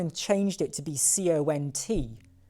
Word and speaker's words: cont: And then for no reason, they went and changed it to be C-O-N-T, pronounced cont, not, well, just make that clear.